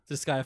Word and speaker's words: Disgaea: Disgaea 5? Mm-hmm. Disgaea 5. That's how it's pronounced, actually. That's Disgaea 5.